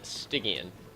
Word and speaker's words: Stygian: It is said Stygian.